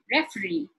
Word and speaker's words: referee: Look at an examples with suffixes like referee. It's towards the end.